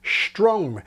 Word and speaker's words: strong: And so at last to the word we started with, strong, and the change from s to sh, which I call street shopping.